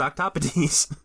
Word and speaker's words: octopodes: This is how you pronounce it. And it's like, yeah, it's octopodes.